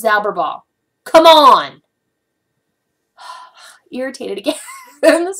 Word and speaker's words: Zauberball: I correctly pronounced Zauberball.